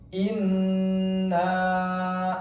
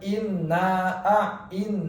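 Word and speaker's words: إِنَّا: Inna a'tainakal kautsar. Inna jangan langsung diucapkan, tapi ditahan dulu 2 harokat. Jangan inna tapi posisi mulut dirapatkan, kemudian ditahan 2 harokat.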